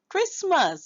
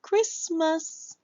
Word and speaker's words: Christmas: Back to our first word being Christmas. So, we hear cris and then the t is silent.